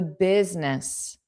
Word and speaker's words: business: The business. Biz. The I is not pronounced. And this b is pronounced as biz. Biz is. So a voiced sound.